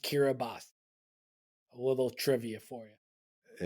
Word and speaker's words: Kiribati: awesome yeah 184 for him was uh Kiribati kiras kir oh are you saying it in Spanish uh kirati is how it's spelled but for some reason it's pronounced kiras a little trivia for you interesting it looks